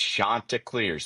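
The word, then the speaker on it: Chanticleers: Uh he he even got on the media for pronouncing everybody was saying Shantaac clears and he said it with me, it's Shantaa Clears.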